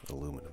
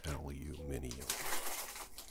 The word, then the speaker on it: aluminium: You don't say aluminum, do you? You say aluminium. Yes, well, that's how it's spelled.